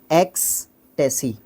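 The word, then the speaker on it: ecstasy: थोड़ा सा मेरे से भी गलत हो गया एक्सटेसी ठीक है एक्सटेसी ओके इस तरी से तरीके से इसको प्रोनाउंस करेंगे फिर आ जाएगा हमारा डिलाइट और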